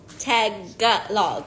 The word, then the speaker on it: Tagalog: you're so good in Tagalog I really oh oh today it's I learned it's tag log right it's I can say it wrong my whole life tag gut log Tagalog no Vietnam says hi